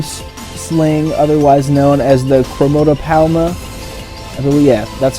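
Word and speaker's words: Chromatopelma: green bottle blue sling otherwise known as the kromoto palma oh yeah that's how it's pronounced chromotopelma yeah sienna pebescence green bottle blue super cool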